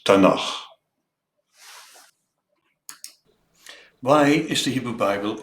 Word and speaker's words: Tanakh: of the Hebrew Bible: the Torah of Moses, T, the prophets, Nevi'im, N, and the writings, Ketuvim, K, pronounced as Tanakh.